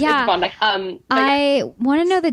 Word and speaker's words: Bondi: Everybody thinks it's Bondi Beach. Oh, okay. It's Bondi.